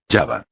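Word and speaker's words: Java: principal del archipiélago indonesio yava yava según la pronunciación sundanese son muchos los estudiosos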